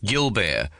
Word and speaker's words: Gilbert: CD 3 Her master of dancing is the ancient Monsieur Gilbert, pronounced Gilbert, who dubs himself professeur de danse and has become a living institution in Hobart.